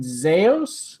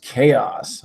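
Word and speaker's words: Xaos: don't know man what's up you're Zaius am i pronouncing that right x AO s cool name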